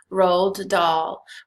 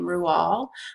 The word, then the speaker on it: Roald Dahl: His parents were of Norwegian descent, and the Norwegians actually pronounce his first name RoaldDahl, but Roald lived his whole life having the pronunciation Roald Dahl.